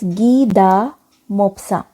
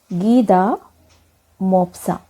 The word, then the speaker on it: Guy de Maupassant: Fifth lesson is The Necklace, written by a French writer whose name is pronounced as Guy de Maupassant. Guy de Maupassant.